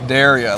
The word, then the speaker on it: Derya: We we accept any name that people pronounce, but it's it's Daria. Like I dare you.